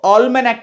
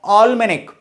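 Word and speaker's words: almanac: तो ऑलमेनेक कहा जाता है। क्या कहा जाता है? ऑलमेनेक। लिखा जरूर ए से है, प्रोनाउंसिएशन ऑलमेनिक होना चाहिए।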